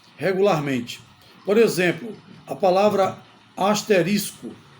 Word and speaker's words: asterisco: por exemplo a palavra asterisco muita gente pronuncia a palavra asterístico coloca portanto a palavra como proparoxítona ou seja como acento no i mas na verdade não existe isso a pronúncia adequada É asterisco que indica o quê